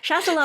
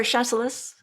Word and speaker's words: Chasselas: there's a wine called, I want to say, Chasselas? Yeah. Maybe you know. Is that right? I wouldn't dare correct your pronunciation after all we've been through, even for wine terms. Yes, Chasselas or Chasselas, but it is the Swiss grape.